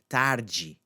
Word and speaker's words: tarde: Okay, so this D is not going to have that th sound. It's going to be a j, tarde, tarde.